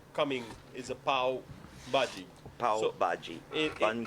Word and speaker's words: pav bhaji: Oh, so along with all of the other delicious food that I've ordered pav bhaji, Yeah, pav bhaji. pav bhaji. Correct. What is Watching pav me bhaji? struggle with that Pav bhaji pronunciation.